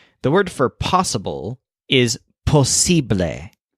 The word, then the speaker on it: posible: word for possible is posible with a stress on sip like sibling below the train some